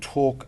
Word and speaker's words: Torque: 829 829 and it's called Talk limited but it's spelled with a little little different bit of a Twist t o r q u e talk limited Google Lon